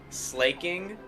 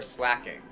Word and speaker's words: Slaking: Is it slaking or slacking? I got slacking. Even though slack king should have a double K. So maybe it should be slaking for the single K.